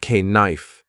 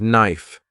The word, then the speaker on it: knife: People laughed when I said k knife instead of knife.